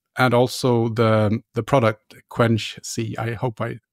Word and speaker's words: Quenchsea: about your company and also the the product quench C I hope I pronounced that right yes that's correct yeah Quincy